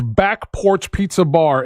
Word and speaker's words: Back Porch Pizza Bar: Hey, real quick, Russ, just because I think we've been mispronouncing it. It's Back Porch Pizza Bar in Mount Dora is where we're going to be at.